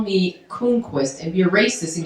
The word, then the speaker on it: Croonquist: Croonquist, Croonquist is the correct pronunciation if you know your Swedish, which I don't.